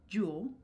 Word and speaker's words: jewel: And again with the word jewel, which looks like “ee-YEW-el.” It's kind of cool because the Folio spelling can sometimes even reveal these intentions that Shakespeare had with the pronunciation of the words. “JU-well” is really lengthened - we say like “jule.” But here it indicates that we want the word have two syllables, because it makes sense